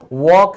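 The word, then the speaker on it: walk: फिर बात करना, बात करना, तो आपने कभी ध्यान दिया, टॉक, टॉक बोलते हैं, ये भी साइलेंट है। तो चाहे टॉक है, वॉक है, इसमें एल साइलेंट है।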